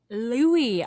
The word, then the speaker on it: Louis: His name is Louis. Louie. I'm sorry.